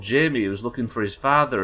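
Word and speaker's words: Jaime: that good at reading that's how you pronounce jamie right j-a-i-m-e that's how jamie lannister's spelled i assumed judging by the one example i have that that's pronounced jimmy am i wrong i mean i ain't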